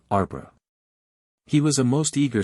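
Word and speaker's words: arbre: pronounced um and in the same way he was taught to pronounce ape sing and tree arbra he was a most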